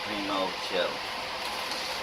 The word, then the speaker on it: Primochill: I always say the name wrong, but it's actually Primochill.